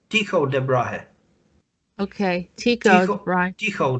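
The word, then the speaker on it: Tycho Brahe: Tycho de Brahe.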